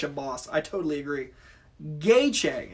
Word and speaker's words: Gaethje: Gaethje is how you pronounce it. Thank you. Gaethje. Oh, yeah, I can see that with the TJE.